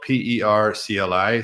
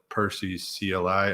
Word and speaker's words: PERCLI: line tool, CLI, and it's spelled PERCLI. So I call it Perses CLI or Per CLI, but the French make it sound really nice.